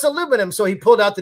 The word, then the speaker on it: aluminum: Me and a British friend got into it about aluminum because in Britain they say aluminium. Aluminium. That's Yeah. how it's spelled.